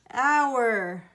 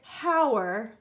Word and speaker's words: our: the same thing because what is our silent letter the H our we don't say how're the our hand we say our good about this comb